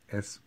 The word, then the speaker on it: y: ¿Cómo se pronuncia? How do we pronounce it? E. How do we pronounce this one? E.